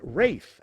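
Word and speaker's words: Ralph: is sean connery exactly concerning the pronunciation of his name this star of the english patient said it's rafe actually player 1.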